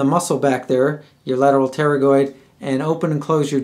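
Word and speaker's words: pterygoid: your lateral teroid uh teroid is spelled p t r uh y g i d so Lateral teroid with a p and uh basically what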